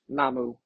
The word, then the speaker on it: namu: The word namu is a Japanese pronunciation of the Chinese transliteration of the Sanskrit word namas which means taking refuge